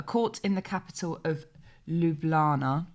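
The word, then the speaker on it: Ljubljana: in the capital of lublana i think that's how you pronounce it lublana please correct me in the comment section if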